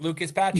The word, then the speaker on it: Lucas Patrick: Yeah, that's why I think Lucas Patrick. I'm not getting his name wrong, right? Lucas Patrick.